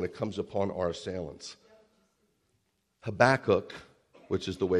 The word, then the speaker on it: Habakkuk: of trouble when it comes upon our assailants habakkuk which is the way it's pronounced the prophet was fearful of the invasion